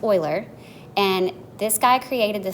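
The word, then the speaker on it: Euler: formul a formula called Oiler formula I know it looks like uler but it's pronounced Oiler and this guy created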